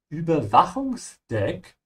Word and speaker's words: Überwachungsdeck: Überwachungsdeck, you pronounce the CH with a ch sound and a vibration in the back of your throat because the CH ends after an A. Wach, ja. Only on the upper surveillance deck.